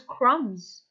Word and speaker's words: crumbs: crumbs with the fish remember the bee is silent it is crumbs every day the fish